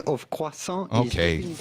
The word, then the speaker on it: croissant: Well, essentially, if you are able to pronounce the French R like the We French need a John do, and Gordy just say croissant here. Croissant. You think? doesn't exist. Croissant. Yeah. The T at the end of croissant Okay.